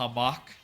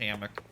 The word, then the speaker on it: hammock: A hamach. Oh, the radio is is actually on. A hamach to lie on. That's nice. Hamach is nice. I I know it's pronounced hammock.